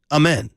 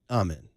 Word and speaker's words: amen: And then somebody else came at us saying, we're saying it wrong. It's amen, not amen.